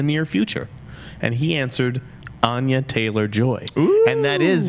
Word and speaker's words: Anya: what it is and it's Ana Taylor Joy that's how it's pronounced born in Miami I